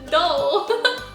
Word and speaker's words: Dole: Dole.